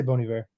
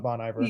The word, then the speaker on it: Bon Iver: bony bear bony bear i say bony bear and i know that's right it's not it's not bon iverson you know we're not